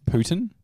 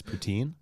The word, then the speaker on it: poutine: probably the worst thing that we have is Putin yeah I said that's how I say poutine it's Putin technically from what I understand it's called Putin Putin but ninety ninety percent of the population says poutine mm-hmm because it's got the e at the